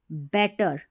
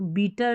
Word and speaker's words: better: हमारी, build banana, a बेटर, बेटर, अब इसको बीटर नहीं पढ़ना है, BETTER बेटर। और दोनों में देखिए यहाँ